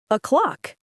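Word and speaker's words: o'clock: When you say o, the stress is on clock, not o. Yes. Say it slowly with me. A clock.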